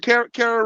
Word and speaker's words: Kara: Sarah Ride with Kara Ride. Say it one more time. What's her name? Kara Rhymes with Sarah.